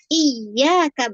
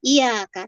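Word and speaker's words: إِيَّاكَ: di dalam surah Alfatihah kata iyaka bertasdid dengan iaka tanpa tasdid itu jauh banget ya kalau kita bilang iyaka hanya kepadamu ya Allah aku menyembah tapi kalau iyaka penjelasan para ulama matahari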